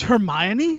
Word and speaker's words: Hermione: nobody could pronounce it wait a minute its Hermione Norris thought it was her own that's what I